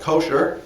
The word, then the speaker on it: kosher: Okay, in modern Jewish American, it's usually called kosher. That's how it's usually pronounced, with the accent on the first syllable.